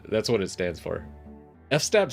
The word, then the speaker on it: fstab: docker compose fstab yeah i always like to say f-stab it drives people crazy but i dropped the syllable to do that that's why i say it that way and i like how it sounds better but it's technically like file system tab is why people say fstab again i'm terrible with